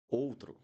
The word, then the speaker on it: outro: Let's go back there. Old, outro, outro, outro. This word means other or another in Portuguese. Outro, closed O.